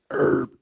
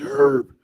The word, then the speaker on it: herb: American English herb, E-R-B, silent H is standard. Think of an herb, British English herb, pronounced with the H, is standard.